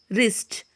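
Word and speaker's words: wrist: डब्लू वहाँ भी silent होता है जब कभी भी आर से पहले डब्लू आता है, वहाँ पर जो है डब्लू साइलेंट होता है, जैसे कि wrong, wrapper, wrinkle, रिस्ट, राइट, Regal, wrench, rack, रैथ।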